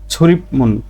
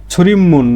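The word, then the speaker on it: 출입문: ছুরিমুন, তাহলে ছুরিমুন মানে প্রবেশ দরজায়, বিউপের পরে মিয়ম আসলে বিউপের উচ্চারণ ম হবে, তাহলে ছুরিমুন প্রবেশ দরজা, বা আমরা বলি মেন গেট যেটা।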